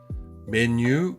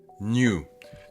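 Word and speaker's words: 메뉴: Menu 주세요. Menu 주세요. Menu 주세요. Mais, comme en français on dit mes amis, mais. New. New, c'est un peu comme quand on dit nouveau en anglais.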